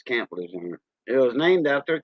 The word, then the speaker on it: Lejeune: Lejeune. That means young in French. Like Camp Lejeune. A lot of people call it Camp Lejeune for the Marines. No, it's Camp Lejeune.